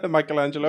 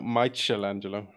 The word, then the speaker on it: Michelangelo: sculpted such a beautiful do you want to try the pronunciation of that again Michelangelo Michelangelo there you go didn't I say that no my chill Angelo yeah or maybe that's